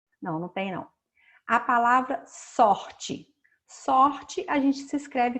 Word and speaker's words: sorte: Mas ninguém fala sorte. Quando a gente fala sorte, como se fosse o I. A gente escreve de um jeito e pronuncia de outro. Então, é para vocês observarem isso, que a pronúncia fica diferente quando o E está no final.